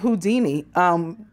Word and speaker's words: Houdin: And his name is spelled like Houdini. It only doesn't have the I at the end. It's Houdin.